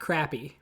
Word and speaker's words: crappie: So it was a black crappie. Of course you picked that. Yes. And if you're wondering, no, that's the actual pronunciation.